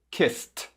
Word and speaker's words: kissed: Som de S. Agora coloca o som do T. Kissed. Kissed.